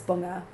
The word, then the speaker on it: Bunge: when we say Bungee? Um, yeah. But that's how like that's how we say it. Like my family say it like that. So, um, but if you pronounce it correctly, it's bunga.